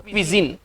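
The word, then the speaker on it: cuisine: क्यूसाइन का मतलब क्विसिन, क्विसिन है ना, क्विजिन, क्विजिन का इसका उच्चारण है क्विजिन है ना, इसको पढ़ेंगे क्विजिन।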